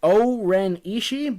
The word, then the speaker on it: O-Ren Ishii: and it is, I'm going to butcher it, O-Ren Ishii, basic Cottonmouth, as she is referred to in the film. Right. Is that it? Is that the right pronunciation? O-Ren Ishii.